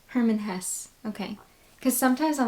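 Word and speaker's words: Hermann Hesse: I never say it correctly I believe it's Herman Hess Herman Hess okay cuz sometimes I'm like if I'm wrong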